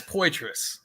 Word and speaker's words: Poitras: you say your last name sir yeah it's pous there you go I appreciate being on here